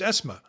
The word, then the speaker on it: Ezme: And the pronunciation is something I always struggle with because I try to explain it to Turkish students that I hmm have, and I go, it's Esma. And they're like, what? Esma.